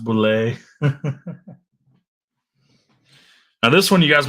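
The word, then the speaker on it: Bulleit: It's pronounced boulet.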